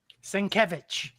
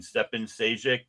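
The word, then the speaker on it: Šejić: Um, and then, uh, I can never pronounce his name. Um, Skevich. Nope. Nope. Stefan, he's a Croatian. Stefan Seek.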